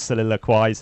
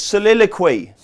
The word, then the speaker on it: Soliloquy: was as good as soliloquized and yet she's twenty five to one and soliloquized tends all that money your parents spent on your education you can't pronounce its soliloquy I did it I